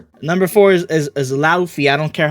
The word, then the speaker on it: Luffy: Number four is is is Luffy. I don't care how anyone pronounces it. It's pronounced Luffy cuz that's how the English lexicon would pronounce it.